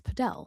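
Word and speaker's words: Padel: The Podell, it's Podell.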